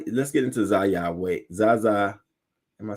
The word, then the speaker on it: Zaya: Zaza, am I saying it right? Zaya Wade.